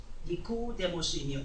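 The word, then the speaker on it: Νικόδημος: 니고데모라고 하는 이름의 헬라어의 발음은 니코데모스이며 뜻은 승리한 백성 또는 백성의 정복자입니다.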